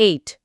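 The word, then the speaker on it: ate: ഐ ഏറ് ദ noodles ഈറ്റ് കഴിക്കുക അതിൻറെ പാസ്റ്റ് ടെൻസ് ആണ് എറ്റ് എടിഇ കഴിച്ചു ഉച്ചാരണം ശ്രദ്ധിക്കുക എയറ്റ്ദൂഡി ആ നൂഡിൽസ് നേരത്തെ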